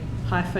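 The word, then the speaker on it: Haifa: And you obtained your PhD from, now tell me if I'm pronouncing this correctly, Hifer University. Correct.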